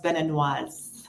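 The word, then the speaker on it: béninoise: In French, it's Beninois for a man, or general, and then for a female, it's Beninoise. I'll say Beninese.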